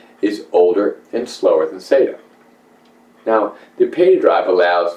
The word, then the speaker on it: SATA: And the serial ATA, or pronounced SATA, standard uses a serial data path and a SATA data cable, which can accommodate only a single SATA drive.